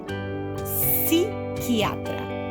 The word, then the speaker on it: psiquiatra: Así que psiquiatra, psicolo, psicológico, sin nada de p, ¿cierto, chicos?